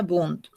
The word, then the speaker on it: Wundt: El otro autor es Wundt, se escribe W-N-D-T, Wundt, se pronuncia Wundt.